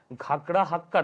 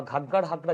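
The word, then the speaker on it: ঘাগর-হাকরা: যে ইন্দাস নদী ছাড়াও ঘাগড়া হাক্কার বা ঘাগার হাকরা যেটা তোমরা যা কিছু উচ্চারণ করতে পারো ঘাগার হাকরা এই জায়গাতে আরো অনেক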